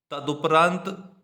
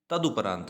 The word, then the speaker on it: तदुपरांत: और तदुपरांत ऐसे नहीं लिखा जाएगा, तदुपरांत तदुपरांत ऐसे लिखा जाएगा, ठीक है। तदुपरांत होता है, तदोपरांत नहीं होता है।